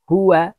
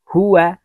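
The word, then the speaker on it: هُوَ: মা মা মিম জবর মা আইন জের আই মাই মাই হা পেশ হু ওয়াও জবর ওয়া হুয়া ওয়াওকে ঠোঁট গোল করে উচ্চারণ করতে হবে বন্ধুরা। হুয়া হুয়া হাজির হি ইয়া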